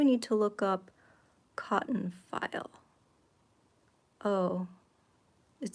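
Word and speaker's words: faille: working on that sure could you find out how to pronounce f a i l l e I think it's file how do you think they pronounce it ooh file did I have it right fail fail no no not fail switched toward here it is okay file okay guys it's called cotton file but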